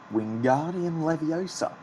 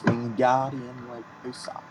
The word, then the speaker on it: Wingardium Leviosa: Wingardium Leviosa, he shouted, waving his long arms like a windmill. You're saying it wrong, Harry heard Hermione stammer. It's Wingardium Leviosa. Make the gar nice and long.